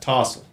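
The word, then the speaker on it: tousle: Tossle. Are there still there? Tussle. No, it's tussle. Yeah. Tussle your I can hair. say that shit. It's pronounced tossle.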